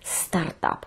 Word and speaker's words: стартап: Стартап. Наголос на першому складі.